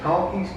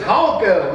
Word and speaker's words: Honko: He says, his name is Honko, not Honky.